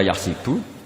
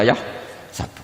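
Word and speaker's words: يَحْسَبُ: Karena dalam qiraah sab'a ada yang baca yahsibu, qiraah kita baca yahsabu. Tapi guru-guru kita kalau ngajar fikih itu bacanya yahsibu. Tapi kalau baca Quran yahsabu. Ya kan Quran kita kan ayah sabu Allah yaqdiru alaihi ahad, bukan dibaca ayah sibu.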